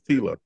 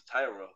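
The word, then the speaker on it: Tyla: I know TAA I thought her name was Tila that's how you pronounce it okay yeah you said Tyler like the Creator yeah you oh Tila then her name is Tila okay I thought Tyra yeah that's s everywhere that's on to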